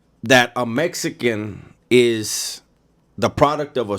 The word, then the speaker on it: Mexica: And when you look at how it's spelled Mexico. But the X's are an SH sound, right?